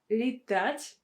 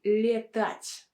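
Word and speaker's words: летать: but the second word li touch lit we don't say le touch we say li touch li touch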